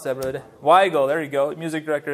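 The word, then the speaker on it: Weigle: where we go why go how do you pronounce that word why go there you go music director to help me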